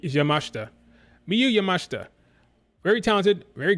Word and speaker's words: Yamashita: name up m yamashta i was say her name wrong for the longest time I saying Yamashita that's not how you say it yamashta Miu yamashta very talented